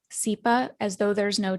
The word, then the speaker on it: Tsipa: So my name is Tsipa, spelled Tsipa, and it's a Jewish name, a Russian Jewish name.